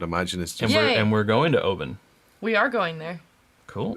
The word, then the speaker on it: Oban: pretty important that you don't see Oban yes yeah but no Obama that's how we started and it was actually taught Cooper I think it was Todd Cooper it was like open it's open it's open so thank